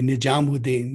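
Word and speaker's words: Nizamuddin: So Waqiya, this is, to pronounce it in the non-Urdu way, Nijamuddin.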